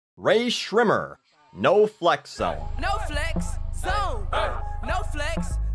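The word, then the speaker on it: Rae Sremmurd: Their website says this mess that looks like it should be pronounced Ray Schremmered is actually pronounced Ray Schrimmer.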